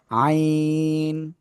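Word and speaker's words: عين: বিভাগের ছাত্র আইন বিভাগের জাস্ট ওই গলাটা চেপে উচ্চারণ চলে আসলে হয়ে যাচ্ছে আইন চার আলিফটান আইন আবার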